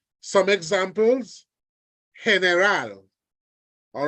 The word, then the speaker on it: general: words come into play so don't go there and say General it's heneral don't go there and